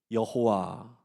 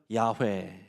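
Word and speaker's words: יהוה: 구약 성경은요 히브리어로 돼 있는데 히브리어로 그 내용을 나는 스스로 있는 자다라는 말을 읽으면 그 발음이 여호와 또는 최근 신학자들은 야훼 이런 발음이라고 얘기를 해요.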